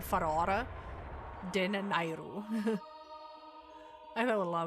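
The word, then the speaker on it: Farore: Ferrar, the goddess of courage. Some names I've been mispronounced since my childhood. And I'm Dutch, so I want to call her Ferrara.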